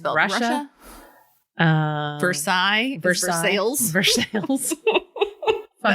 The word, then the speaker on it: Versailles: it drives me nuts because i've been to versailles so like coming back to ohio and being like no that's no actually no you need to call it for sales because you're not versaille no